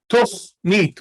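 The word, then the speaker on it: תָּכְנִית: So we read it as tochneet. We read it as an o sound, not as an ah, but as an o.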